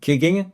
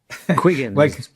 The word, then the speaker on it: Quiggin: It's a great pleasure to have with us today, Professor John Quig from uh the University of Queensland. I I hope I pronounced your last name correctly. Quigan Quigan. Quigan. Yes.